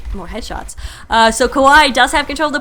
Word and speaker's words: Kawaii: the secretly Kawai so Kawai I am told means cute but it sounds like Hawaii to me or at least the first syllable of Hawaii so I tend to